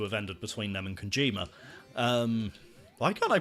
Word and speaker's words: Kojima: Well, I say allegedly, basically confirmed to have ended between them and Kojima. Why can't I pronounce his name? There's no N in there.